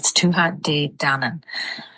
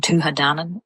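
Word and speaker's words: Tuatha Dé Danann: So I've seen a couple people kind of saying tua dan and leaving out the day. But um it'll be tua dan. So dan kind of goes together quite quickly.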